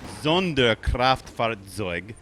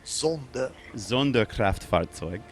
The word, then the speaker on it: Sonderkraftfahrzeug: You have to pronounce it Sonderkraftfahrzeug. Sonderkraftfahrzeug.